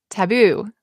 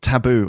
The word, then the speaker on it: taboo: Or as I say, taboo. You say taboo and I say taboo. Yeah. Taboo or not taboo?